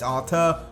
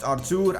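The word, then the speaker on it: Arthur: debate in the comments section of our two's pronunciation whether it's Artur or whether it's our tude apparently in Portuguese it's pronounced r2 and that's the way I'm gonna pronounce it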